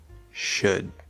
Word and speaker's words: should: And don't forget would, could, should. These are not L-colored, the L is just spelling.